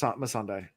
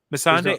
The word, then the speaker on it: Missandei: Missandei. Missandei. Okay. There's no L, I don't think. Okay. So I just looked up. Will, you have Missandei, right?